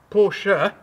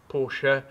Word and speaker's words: Porsche: So, as you can see, BMW in German is not pronounced BMW, it's BMW. If you can insist that I call this a Porsche rather than just a Porsche, I can kind of live with that.